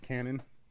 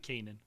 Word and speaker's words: Kanan: or this is just Canon is not how you pronounce his name is it Kanan or Canon Kanan okay Kanan the last Kanan jarus